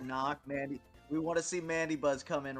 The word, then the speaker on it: Mandibuzz: do you say Mandy Buzz it it is mandab Buzz let's not let's not get it say coffe